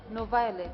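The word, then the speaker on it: NoViolet: you met the author no violet is how to pronounce her name no violence yes yes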